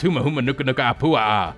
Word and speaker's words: humuhumunukunukuapua'a: until let you know that I could properly pronounce humuhumunukunukuapua'a anyway because both Brooks - Andy who moment